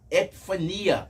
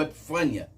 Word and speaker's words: epifania: Essa palavra, no original grego, está epifania ou epifânia. Isso vai depender da maneira que você se expressar e pronunciar.